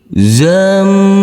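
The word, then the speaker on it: زمهريرا: Huruf ra yang berfathah tanwin jangan lupa setiap huruf yang bertanwin sementara dan ini nanti kita kasih akhiran huruf n. Karena kita belum masuk ke pelajaran ikhfa. Kita ulangi. Zamhariron.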